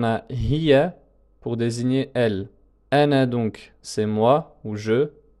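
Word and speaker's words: أنا: Donc il s'écrit ainsi avec un alif à la fin, mais ne se prononce pas avec une prolongation. On ne va pas dire ana, c'est ana, comme s'il y avait un soukoun ici en fait.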